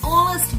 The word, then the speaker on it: honest: Okay, H is silent here. An honest boy, an honest, O.